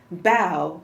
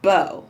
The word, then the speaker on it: bao: a kitten here and she tells us bow like bow not like bow that goes in your hair amy wu and the